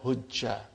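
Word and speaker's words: حجّ: We gave a temporary fatah so that we can now pronounce it as hujja. But originally, it is that I cannot pronounce is hu and then 2 jims with sukoon.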